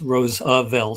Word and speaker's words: Roosevelt: But uh it's Rose a Velt, three syllables, and it means field of roses in Dutch, which Robert explained in the article.